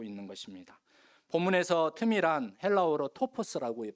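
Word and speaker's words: τόπος: 본문에서 틈이란 헬라어로 토포스라고 발음을 하는데 이것은 영역 혹은 기회라고 하는 뜻입니다.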